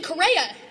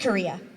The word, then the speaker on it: Correa: And places like Blaine, Hamilton, and even Correa. It's pronounced Korea.